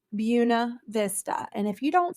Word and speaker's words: Buena Vista: Vista Georgia it looks like it should be pronounced buav Vista but here in Marian County in Southwest Georgia it is pronounced bua Vista and if you don't say it right we're